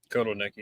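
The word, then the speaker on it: Kotelnicki: Kot Nikki. Yeah. Yeah. Cotton Nikki.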